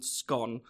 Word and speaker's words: scone: It says feed two birds with one scone, and I pronounce it scone, not scone. So it doesn't rhyme.